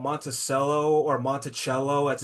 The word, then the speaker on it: Monticello: funny, actually, Geek, because here in Florida, so there's a town called Monticello or Monticello, as it's actually pronounced.